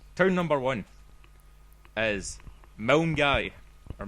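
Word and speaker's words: Milngavie: know the concept right Town number one is M guy or M guy sorry which is spelled m i l n g a v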